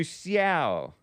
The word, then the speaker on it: Xiao: Let's get to Xiao, if that's how it's pronounced.